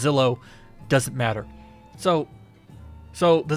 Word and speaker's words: Zillo: or the Zillow Beast I say Xylo but I'm pretty sure it's pronounced Zillow doesn't matter so so